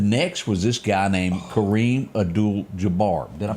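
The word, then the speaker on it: Kareem Abdul-Jabbar: was one the next was this guy named Kareem adul Jabar did I pronounce that correct you got it ding ding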